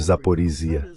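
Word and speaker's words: Zaporizhzhia: eles vão ficar com a usina nuclear de Zaporisia, se é assim que se pronuncia. É, obrigado, Zaporia.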